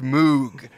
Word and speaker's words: Moog: we have our final one here I have Moog again but it's actually pronounced Moog what does the company Moog make ice cream